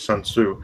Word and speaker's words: Sun Tzu: so that's why I pronounced it as Sun Tzu it's like general tso or you know and it seems like it's RTS the tea is never pronounced well no suddenly the